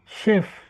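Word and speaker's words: Chef: বলবেন সিইও বা managing director Germany ভাষায় শেফ শেফ বলে কিন্তু ওর উচ্চারণ মানে নামের সাথে তো ওর উচ্চারণের কোন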